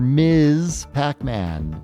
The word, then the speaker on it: Ms. Pac-Man: 46th place for Miz Pac-Man. Say it correctly. Miz. It's important that you understand everybody. M. Pac-Man is not married.